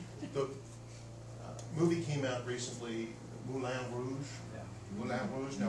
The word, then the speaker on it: Moulin Rouge: Now, what does everybody say? Moulin Rouge. Oh, the Moulin Rouge. Well, that's not how they say it in France. They say Moulin. Moulin Rouge. But when we hear Moulin, we think, oh, we have to say it like the French. Moulin. And so we're doing another vowel shift.